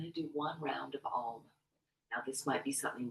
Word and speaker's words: Om: Okay, and it's an ah, oo, sound. 3 different syllables.